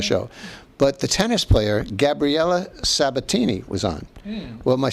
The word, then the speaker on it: Gabriella: Is that how you pronounce her name? Gabriella? Or Gabrielle? Gabriella.